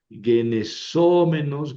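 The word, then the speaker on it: γενησόμενος: Ojo porque en el menos, mene, menon, en la terminación, el masculino y el neutro llevan el acento en la antepenúltima, genesómenos, genesómenon. En cambio, el femenino tiene el acento en la penúltima, es una paroxítona.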